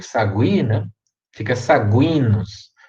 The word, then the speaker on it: Saguinus: o sagui na fica saguinus nunca falem sabinos tá é saguinus essa aqui é um